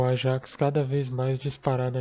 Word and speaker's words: Ajax: Eu vou continuar falando Ajax, porque sim, basicamente, porque todo mundo fala, mas que fique claro, a pronúncia correta é Ajax, tá?